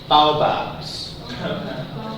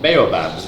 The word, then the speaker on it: baobabs: They're called baobabs. Or they're called baobabs. It depends apparently how you pronounce it.